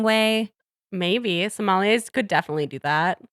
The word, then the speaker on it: sommelier: A certified sommelier. Sommelier. Like, it just reads to me like maybe he could be a little full of himself and maybe rub people the wrong way. Maybe. Sommeliers could definitely do that.